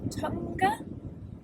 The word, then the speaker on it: Tongue: We parked up just outside of Tonga, which is spelled like tongue last night.